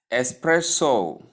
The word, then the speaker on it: espresso: Common misuse is often people pronounce it as espresso, but there is no X. Let's look at it. The spelling the word is spelled E S P R E S S O E S S P R E S S O So did you see anything like an X there in the pronunciation?